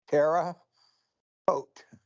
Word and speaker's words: Terre Haute: And you now came out of, and I know I'm not going to pronounce this right, Terre Haute, Indiana? Or how do you pronounce that properly? Terre Haute.